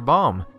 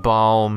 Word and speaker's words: Baum: Baum. And no, it's not Baum as in boom, nor is it Baum as in Gilead. It's Baum, B-A-U-M, sorry.